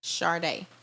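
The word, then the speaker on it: Chardai: um on Instagram my name is underscore Sharday so chardey is let me spell it a-l-e-x-i-s underscore c-h-a-r-d-a-i that's my Instagram my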